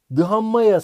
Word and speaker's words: dhamma: şu budaya sığınırım diyor dhamma sığınırım diyor damma diye okunuyor bu damaya sığınırım ve